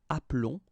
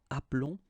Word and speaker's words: appelons: keep only one L, so that's the reason why you will get the sound appelons, okay? This E is mute or silent, appelons, and then vous appelez.